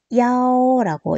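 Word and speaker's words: 幺: 1은 야오라고 이렇게 발음을 해줍니다.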